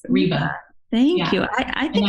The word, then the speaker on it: Ryba: having a moment of is it okay if I pronounce my name for you I love that I love that no no Reba yes Reba thank you I I